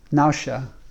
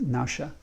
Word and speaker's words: nephesh: it as soul, and it's pronounced nausha, but it's spelled nephesh, N-E-P-H-E-S-H, and my understanding is it's pronounced nausha, but and that refers